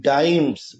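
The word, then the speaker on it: dimes: ঠিক আছে ফিডিং হিম ডাইমস উচ্চারণটা ডিম করো না আবার হ্যাঁ উচ্চারণটা কি বললাম ডাইমস ডাইমস এক ধরনের টাকা একক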